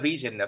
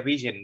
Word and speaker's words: vision: Và blur vision, vision là cái tầm nhìn, không phải xe vision đâu các bạn. Đọc là vision chứ không đọc là vision nha. Vision, vision, giống như television vậy đó.